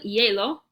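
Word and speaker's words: hielo: ticket I since L yellow remember that H is kind of silent so we're just gonna pronounce it like yellow ice skating is L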